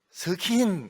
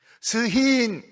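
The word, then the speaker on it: שחין: 이 히브리어로는 스킨 이렇게 되어 있습니다. 스킨 이렇게. 이 히브리어에는 정확한 K 발음이 없어요. 스킨 바르자 이런 게 없어요. 스힌 이렇게 되어 있습니다. K하고 H하고 중간 발음입니다.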